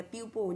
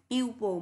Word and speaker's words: people: đọc từ này là people, nhắc lại lần thứ N nhé. Chúng ta không đọc từ này là people mà đọc là people, ok?